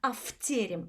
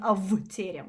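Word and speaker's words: в тереме: that's why it changes the V into a F to mix it better with the next word. So we sing afterem, fterem, rather than avterem, which is harder to pronounce.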